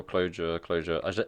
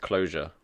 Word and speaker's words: Clojure: I did a professional Clojure. Is it pronounced Clojure, like with an S? Or Clojure. I imagine the j is like j, Clojure, like French.